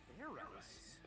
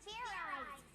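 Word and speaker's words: Fairize: Do it again, and this time make sure you pronounce the Z.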